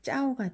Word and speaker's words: เจ้า: 그러니까 쩌짠이니까 쌍지읍 발음 나니까 우선 쌍지읍을 써주고 그 다음 에와 아가 합해서 아오 해서 짜오가 됐죠.